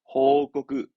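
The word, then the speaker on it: 報告: 발음은 호코크.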